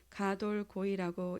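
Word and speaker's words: גדול גוי: 이 단어는 히브리어로 가돌 고이라고 읽습니다.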